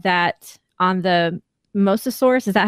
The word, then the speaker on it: Mosasaurus: they kenneth and gary said that on the mosasaurus is that how you pronounce it roll yep um that the the